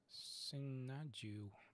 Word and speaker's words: Sinaju: Sinaju. That is how you pronounce it.